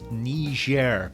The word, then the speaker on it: Niger: african country of niger that's niger be very careful of your pronunciation of that especially if you're planning